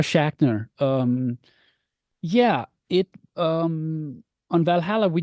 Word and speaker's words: Schachner: You know, for example, there was Sarah, I believe it's pronounced Sarah Schnashner with Assassin's Creed Valhalla. Again, getting to work alongside different composers and whatnot. How has it been for you? Yeah, Sarah Schachner.